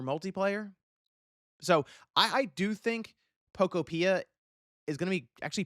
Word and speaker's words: Pokopia: That seems to be how it's said. It's a little thing, but I was saying Pokopia. No, it seems to be Pokopia. That's how they pronounce it here.